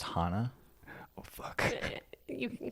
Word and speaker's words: Hana: It's pronounced Hana.